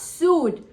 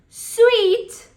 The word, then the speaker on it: suite: suit listen that's wrong it is not sued you will say I am going to Sri Lanka in December and I have booked a suite s UI t e is pronounced as sweet you know I am